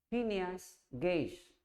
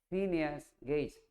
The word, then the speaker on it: Phineas Gage: Se llama Phineas Gage. Phineas Gage. Phineas se escribe así, P-H-I, Pi.